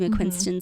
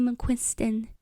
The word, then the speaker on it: Casey McQuiston: stuff I like Casey MC quinston stuff um Casey mcquiston am I saying it right yeah there's no n whatever anyway but stuff